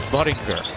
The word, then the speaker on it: Budinger: in for you and it's not how you pronounce his last name it's Budinger and how do you